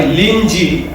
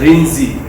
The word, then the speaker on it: Linji: Rinzai Zen was founded by Linji. I think Linji is pronounced as Rinzi, or rather Rinzi is pronounced Linji.